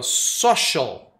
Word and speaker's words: social: Outra palavra muito parecida aqui, ó, social, que é o nosso social. Olha aí, mesma coisa do I-A-L, né? Shall. C-I-A-L, shall.